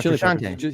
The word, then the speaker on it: Frusciante: I don't know how to pronounce the guy's last name. Is it Frusciante? John Frusciante? Frusciante? Frusciante. Yeah, Frusciante.